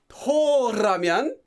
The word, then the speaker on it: 더라면: Toramyon. You have to pronounce it like that.